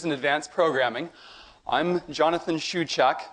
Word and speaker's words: Shewchuk: advanced programming I'm Jonathan shuuk my last name is pronounced Shu Chuck my email is Jrs cory.